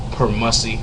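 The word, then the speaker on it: permussy: And then if you didn't even bother to wash up, you're over there smelling permissi. Oh yeah. Um, permussie. I mean tell you it's spelled P E R M U S S Y.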